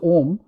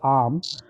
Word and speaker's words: Om: sound and the reason arm or what is commonly pronounced as om but I I like to pronounce it I think correctly as arm uh that is supposed